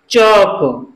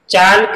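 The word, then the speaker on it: chalk: सी एच ए एल के, इसमें भी एल साइलेंट है, इसको हम कैसे पढ़ेंगे? चौक, चालक नहीं पढ़ेंगे, चौक।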